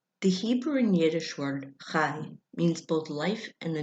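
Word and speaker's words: חי: The Hebrew and Yiddish word chai means both life and the number 18. It's pronounced like you're clearing your throat and saying hi at the same time.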